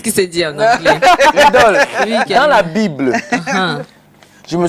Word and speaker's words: Lydol: Je ne sais pas comment tu as fait pour porter ce nom, l'idole.